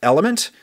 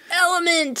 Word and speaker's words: LMNT: episode, Element, which is spelled L-M-N-T. But it is pronounced Element. Element.